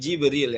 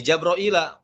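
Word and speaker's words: جبريل: Misalkan qul man kana aduwwan li Jibril ya. Dibaca apa? Li Jabraila. Qul man kana aduwwan li Jabraila fa innahu nazzalahu ala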